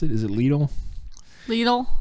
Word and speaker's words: Lidl: So Fresh Market, Walmart, Redner's, ShopRite, I forgot about ShopRite, Whole Foods, and Lidl, how do we pronounce it? Is it Lidl?